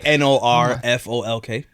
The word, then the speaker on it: Norfolk: this little thing he's like he can't stress n-o-r-f-o-l-k oh the city how do you say that